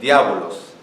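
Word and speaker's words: διάβολος: Estas palabras, o sea, no le voy a decir adivinen, pero ¿saben cómo es el original, cómo es pronunciado o cómo está escrito? Dice diábolos.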